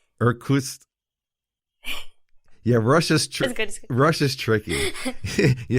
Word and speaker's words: Irkutsk: Irkutsk. So how do you say that? Irkutsk. Irkutsk.